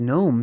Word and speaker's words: gnome: King and why is gnome spelled like that you know what I mean they could easily have just put a g on there there's supposed to be a silent g at the beginning red Hatter hey good